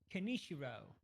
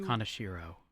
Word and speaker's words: Kanashiro: Title is Maze Bank Robbery, Space Thing, Kanishiro. I think it's pronounced Kanashiro. No, I like Kanishiro better.